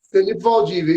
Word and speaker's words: Felipe Valdivia: Felipe Valdívia, E- isso.